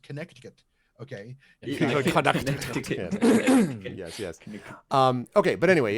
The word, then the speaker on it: Connecticut: Where you are, there are multiple C's in the word. It is pronounced Connecticut.